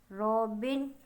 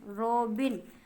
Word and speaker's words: Robin: Sweetly, रॉबिन, प्यारे अंदाज में कौन गाता था? रॉबिन गाता है। यस, ROBIN, बिन, रॉबिन, रॉबन नहीं कहना आपने, आपने रॉबन बच्चे प्रोनाउंस करते हैं, रॉबिन, ठीक है।